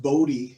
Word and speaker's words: Bode: and if I did a boat well it's pronounced body but I call it Bode Bode whatever if you do a bold plot